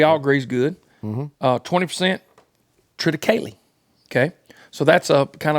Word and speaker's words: triticale: Triticale? Triticale? Is that how you say it? Triticale. That's the way I've always said it. Yeah, triticale. That's right.